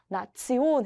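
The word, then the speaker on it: Nation: 때 테이오으로 끝나게 되면 온도 아니고 션도 아니고 지온이라고 했습니다 지온 그래서이 단어를 읽을 때 치온이라고 읽게 됩니다 여러분 리 우리 우리가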